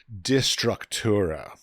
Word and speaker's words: Destructura: Destructor Destructor okay then I'm sure I mispronounced that but dest structura there we go yeah that's like the American version of dest structura you know so you're